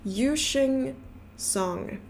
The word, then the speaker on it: Yusheng Song: And finally, we found a phonetic version that was to help us out, and it's Yusheng Song.